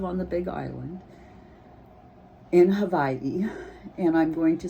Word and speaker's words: Hawaii: know how to spell Hawaii, and I don't know how to say it, and all of that. Well, the W is pronounced like a V, so it is Hawaii, or Hawaii.